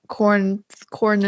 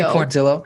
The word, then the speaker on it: Quarantillo: Quarantillo. Oh, Billy Quarantillo. This is no, it's not Tillo. It's Tio. Like how quesadilla is pronounced with a Y.